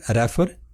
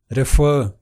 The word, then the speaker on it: refer: We pronounce this word as refer. It isn't refer. It should be pronounced as refer.